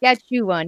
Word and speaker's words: Saskatchewan: It's a nice long name that no one can pronounce. The GPS always says it wrong. And so Saskatchewan, isn't it? Saskatchewan, yep.